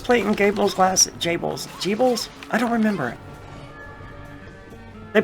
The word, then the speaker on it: Gebel: I would have just assumed it was Gebel. You know, just being an English speaker looking at the word, but they pronounce it like Jable, I think.